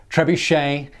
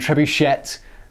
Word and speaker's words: trebuchet: up in the comments trebuchet and trebuchet are both acceptable pronunciations i like trebuchet it's how i've always said it as how i'm gonna